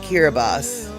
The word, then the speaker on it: Kiribati: Before we get into our kitty cat situation, oh, Kiribati is pronounced Kiribati.